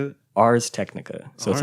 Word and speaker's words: Ars Technica: Ars Technica.